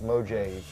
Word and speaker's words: Mojave: thing called the mojave desert phone booth it's pronounced mojave yes um and this is a it's literally